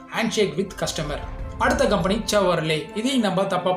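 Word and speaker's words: Chevrolet: அடுத்த company செவர்லே. இதையும் நம்ம தப்பாக ப்ரொனவுன்ஸ் பண்ணிட்டு வராங்க.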